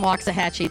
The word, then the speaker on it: Waxahachie: Brayton, just to let you know, my aunt is from Waxahachie. That's how I know how to pronounce that.